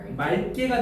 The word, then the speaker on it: 맑게: 자, 그러면 첫 번째 거기 맑게 보이니? 맑게. 자, 맑게는 맞게가 아니고 뭐가 된다는 거야? 말게가 된다는 거예요.